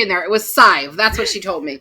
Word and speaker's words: Sadhbh: So she said it was Sadive, I think. Usually Sive. Sive, that's what it was. Yes. I kept putting the D in there. It was Sive. That's what she told me. Sive rhymes with 5.